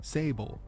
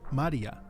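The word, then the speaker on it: 聖母: small and mother and as a word it is pronounced Sable but as a name it's supposed to be read Maria yes like the holy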